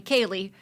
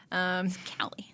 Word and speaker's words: Callie: I set mine so people stop calling me Kaylee. My name's not Kaylee. Callie. Yeah, it's Callie.